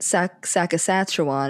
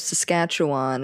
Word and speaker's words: Saskatchewan: Um, and it goes back to like him calling it sac sackuan instead of Saskatchewan or like what else did he say crazy?